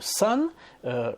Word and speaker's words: son: Petite parenthèse sur la prononciation, le mot son, ici c'est un fils, ça se prononce exactement de la même manière que le soleil, the sun, qui s'écrit S-U-N.